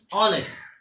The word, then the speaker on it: honest: यहाँ से इसका उच्चारण करते हैं, यानी ऑनेस्ट। एच क्या होता है? साइलेंट हो जाता है।